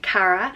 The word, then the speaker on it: Cara: started with the girl names first up is Cara and it's pronounced exactly as a spelled cara cara and